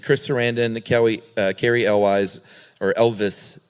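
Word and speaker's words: Elwes: Sarandon, Carrie Elwise, or Elvis, apparently is how you really pronounce it. Really? Yeah, I've been saying Elwise my whole life.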